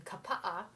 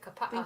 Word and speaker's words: Kapa'a: I grew up in the Twin Cities of Minnesota, and then lived in Kapa'a, is how you pronounce it, Kapa'a, Hawaii.